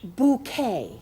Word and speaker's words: Bucket: My nan used to watch this show, and all I remember is Hyacinth Bucket. She pronounces it bouquet. But it's spelt bucket.